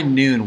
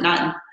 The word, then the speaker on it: Nuun: nowadays great and then my biggest question why noon why is it spelled that way and where